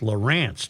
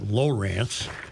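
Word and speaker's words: Lowrance: It's pronounced Laurance, not Lorance.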